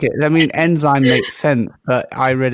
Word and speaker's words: Nzime: no oh no all right how do you pronounce enzy it's enzyme enzyme well that makes more sense yeah that's